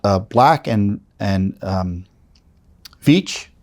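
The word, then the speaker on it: Veatch: Black and and um Beach I think that's how it's pronounced v-e-a-t-c-h involving work of any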